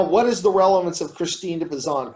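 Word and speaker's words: Christine de Pizan: name is poison and it's p-i-s-a-n but sometimes it's spelled p-i-z-a-n now what is the relevance of christine de pezan christine de bazan haley did you did you write on her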